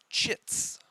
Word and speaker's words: chits: are called resistance chits with a C Sound I know some people are going to pronounce that as more of an S sound because it's just funnier that way but we're going with the the C Sound um kind of like